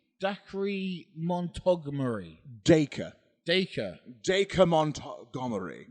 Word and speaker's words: Dacre: Dacre or Dacre? Dacre. Dacre Montgomery. I mean, come on, man. Don't be so fucking upper class. Dasray. Fucking bring it down a couple levels.